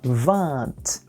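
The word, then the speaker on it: vingt: O G, podem perceber, a gente não pronuncia e o T final é pronunciado. Então a gente vai dizer 20.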